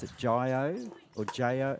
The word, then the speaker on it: Jio: I think you pronounce it Jio or J-O.